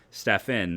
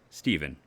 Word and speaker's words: Stefan: here i'm like no when i've been saying stefan that is correct not stephen it's stefan uh i've